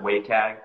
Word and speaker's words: WCAG: to to the wcag they pronounce it waycag online by the w3c